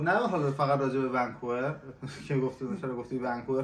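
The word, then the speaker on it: Vancouver: مثلاً بشه ونکوور اصلاً خود ونکوور م غلطه ونکوور باید تلفظ استرسش بذاری روی وسطش یا ما داریم ۹۰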